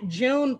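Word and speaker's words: joon: nothing yeah yeah yeah june but it's spelled j-o-o-n that means deer in farsi and so i call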